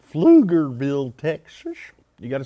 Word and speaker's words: Pflugerville: Pflugerville Texas and you gotta say it right Pflugerville Texas you got to say it right so